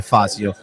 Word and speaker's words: Fazio: Strattman per Fazio o Fazio, comunque Fazio. La pronuncia giusta, noi l'avevamo detto dall'inizio.